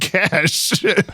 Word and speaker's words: cache: cache of weapons but the word cash is pronounced cash cache with a t uh means the state